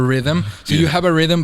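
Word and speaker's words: riddim: and it's just that you spell it r-i-d-d-i-m but it's for rhythm so you have a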